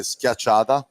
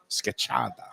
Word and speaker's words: schiacciata: We call it schiacciata. Scacciata.